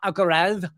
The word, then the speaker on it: Alcaraz: It's like, oh, you've got Carlos Alcaraz, Alcaraz, pronounce it the correct way.